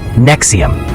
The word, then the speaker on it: NXIVM: A guy named Keith Raniere launches NXIVM. It's pronounced Nexium, like the heartburn medicine, which is honestly perfect because this whole thing makes me sick.